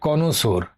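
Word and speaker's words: connoisseur: रोषिक व्यक्ति रोशिक व्यक्ति देखो सठीक उच्चारण हो कोनोसोर कोनोसोर बार प्रॉब्लम हो कोनोसोर कोनोसोर करे मुखस्थ कर ले सी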